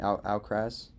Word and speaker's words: Alcaraz: Alcaraz?